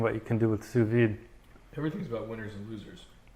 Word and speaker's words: sous vide: So this is my first time having sous vide. Sous vide? Did I pronounce it right? Sous vide.